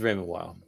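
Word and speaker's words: Raymond Weil: Maybe that's how it's pronounced. It is Raymond Wild.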